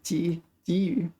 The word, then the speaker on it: 给予: This is one of the rare cases where this is pronounced 给予.